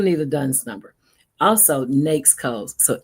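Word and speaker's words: NAICS: Also, NAKES codes. So N A I Cs is pronounced nakes.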